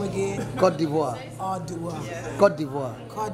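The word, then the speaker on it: Côte d'Ivoire: And how do you pronounce the name again? Cote d'Ivoire.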